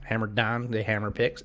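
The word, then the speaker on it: Hammer Dahn: They have a gambling show called Hammer Don is how they pronounce it. Okay. It's spelled DHAN, Hammer Don.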